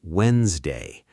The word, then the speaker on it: Wednesday: The actual pronunciation is Wednesday. That first D is completely silent, gone, as if it was never written there at all.